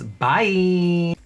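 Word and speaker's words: Baie: gonna move on to what i'm gonna pronounce as bye but it's spelled b-a-i-e so y'all could just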